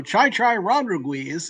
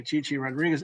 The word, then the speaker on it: Chi-Chi Rodriguez: He would he's in the news business but he would mispronounce you know Chai Chai Rodriguez obviously Chi-Chi Rodriguez.